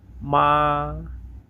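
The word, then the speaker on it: mǎ: এটা উচ্চারণ নিয়ম হচ্ছে প্রথমে উপর থেকে নিচে নামবে, তারপরে নিচ থেকে উপরে। তাহলে দেখেন এটা কিভাবে উচ্চারণ করতে হয়। মা, মা, মা, MA, মা।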